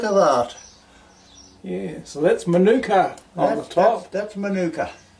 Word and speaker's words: manuka: that's made out of manuka. Manuka. Or Manuka? Or manuka, if you pronounce it that way.